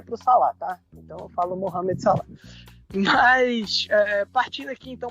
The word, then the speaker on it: Mohamed Salah: né fez chuva e a sadio mané e mohamed salah muita gente fala mohamed salah vocês me permitam